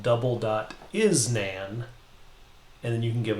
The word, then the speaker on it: NaN: double dot nan and that's usually pronounced nan and it just means not a number and the reason we're